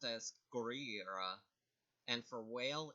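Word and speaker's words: ゴリラ: For gorilla, it's pronounced as Gorira, and for whale, it's pronounced Kujira.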